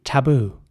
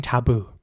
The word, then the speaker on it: taboo: English it will be taboo with the r sound at the at the beginning taboo definitely a taboo against that plus if she got disfigured whereas in American English more like taboo with an a sound for the a letter taboo taboo or Trailblazer